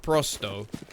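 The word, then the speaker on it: Pro100: got it right so it's pronounced prosto which is a bit like Presto so I think their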